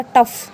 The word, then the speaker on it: tough: Next rule है sometime GH pronounce like an एफ। कई जगह पे क्या होगा, GH को हम एफ की तरह प्रोनाउंस करेंगे। जैसे TOUGH क्या हो गया, टफ। TOUGH क्या बना, टफ।